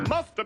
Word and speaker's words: must have been: must have been surprised musta been you mean must have been we can say muscles and conversation and sometimes we don't pronounce the beat and so you hear musta she must have been